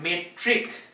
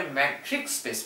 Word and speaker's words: metric: ছোটবেলা থেকে তুমি পড়ছো ম্যাট্রিক্স, আর এটা হচ্ছে মেট্রিক, ঠিক আছে? দুটোর স্পেলিং ডিফারেন্ট, দুটোর উচ্চারণ মানে প্রোনাউন্সিয়েশন ডিফারেন্ট, ঠিক আছে? This is ম্যাট্রিক্স, this is মেট্রিক। কেন বললাম আমি এই কথাটা এইভাবে? কারণ অনেকেই এই নামটাই বলে ম্যাট্রিক স্পেস, ম্যাট্রিক স্পেস।